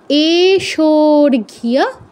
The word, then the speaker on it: এষোর্ঘ্যঃ: মূর্ধন্যয় ড সংযুক্ত, মার্তণ্ড, ভৈরবায় প্রকাশ শক্তি সহিতায় এষোর্ঘ্য, এষো, শোতে দীর্ঘ প্লুত হবে কারণ পরে লুপ্ত